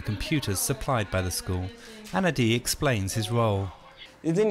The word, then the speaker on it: Anadi: They have a funny way of pronouncing our names. My name is Anadi, but they're like, Andy, Andy, Koila.